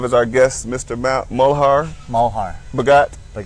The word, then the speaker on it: Malhar: why I have a fairly unique name but Mohar okay simple so we have to show you and they it's spelled mal but you can you pronounce it